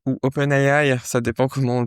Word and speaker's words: OpenAI: Donc voilà pour OpenAI ou OpenAI, ça dépend comment on le prononce, si on le prononce à l'anglaise ou à la française.